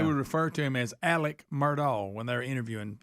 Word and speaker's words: Alex: on Netflix they would refer to him as Alec murall when they were interviewing people I thought